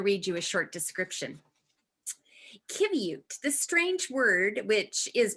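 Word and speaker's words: qiviut: i'm going to read you a short description kybute the strange word which is pronounced kibiu means down or under wool in the eskimo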